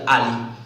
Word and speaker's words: a11y: And so since the 11 resembles so much else, we pronounce it like Ali.